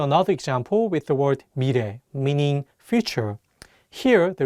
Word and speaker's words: 미래: Let's do another example with the word 미래, meaning future. Here, the 리을 consonant is between the vowels E and 에, so it'll have more of an R sound. Let's say it together, 미래.